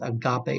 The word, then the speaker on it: agape: and again worse pronounced agape it's a Greek word alright and remember we're still talking about the younger dr.